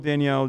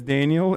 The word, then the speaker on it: Danielle: Love, Danielle in the chat. Say my name as Daniel instead of putting too much emphasis on the last A in my name.